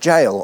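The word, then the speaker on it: Gaol: Yes, Hexom's old gal, pronounced jail or Hexom's Old Jail.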